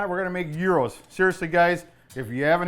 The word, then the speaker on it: gyros: Euros. Euros. He is going to show us, we have pulled venison already boiled. He's going to put some seasoning on it. We're going to make Euros.